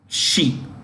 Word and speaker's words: Xi: Xi is pronounced Xi.